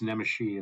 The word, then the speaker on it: Nemesi: heard it's I've heard nesy nemesi uh but it's Nishi it's the Hungarian pronunciation so like okay yep